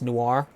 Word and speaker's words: Noir: Yeah, a bit of a long story with the Celeste Noir airship. Noir, by the way, is one syllable, not two.